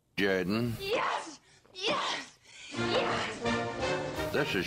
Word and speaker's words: Jordan: Now for Something Completely Different this is Shug Jordan coach of the Auburn Tigers say no no it's pronounced Jorden yes yes yes this is sh Jaden football coach of the Auburn Tigers it's pronounced Jordan that's the name of the wildly popular in